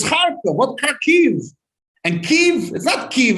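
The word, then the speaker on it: Kharkiv: from the whole thing karkiv it's harco what car keys and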